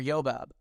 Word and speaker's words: Jobab: of the Patriarchs remember our English tongues use a j instead of a y so it would be yob or yobab but we will use the J pronunciation for ease our God is a